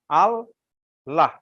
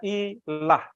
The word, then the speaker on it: Allah: Allah, ya. Kalau hanya satu L-nya, bacanya ilah. Tapi karena mau ditunjukkan adanya perbedaan antara ilah dengan Allah yang benar, maka menjadi Allah.